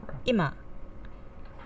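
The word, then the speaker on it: 今: Hashi example two okay Emma meaning Now with an accent on the first Mora an accent on the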